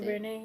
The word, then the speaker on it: DuVernay: Ava DuVernay. DuVernay? How do you say it? DuVernay, yeah.